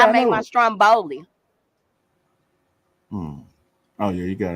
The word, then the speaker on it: Stromboli: it like you gotta see it like the Italians kidding you ain't saying it right Stromboli you know put some